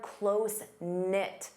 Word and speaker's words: close-knit: You can say they're closenit. Notice the K is silent.